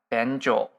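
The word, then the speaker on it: 便所: Yeah, but in Japanese, it is pronounced benjo.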